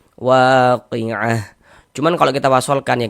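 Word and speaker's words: الواقعة: Kalau kita wakafkan, maka huruf ha yang kita baca waqiah.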